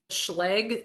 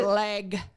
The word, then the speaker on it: Schlage: My preference is the Schlage, that's how I pronounce it. Schlage. Schlage schlage. I've heard a lot of pronunciations. Feel like you have a mouthful of food, you say it right.